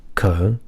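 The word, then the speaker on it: København: stopped over in um which i believe the danish pronounced cohen um sorry uh that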